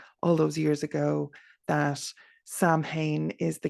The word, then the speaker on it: Samhain: In Irish Gaeilge, it is pronounced Samhain, as I said, with sow as in female pig.